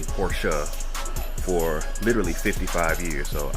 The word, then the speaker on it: Porsche: as he is so explicitly told me to pronounce it correctly Porsche for literally 55 years so I listen to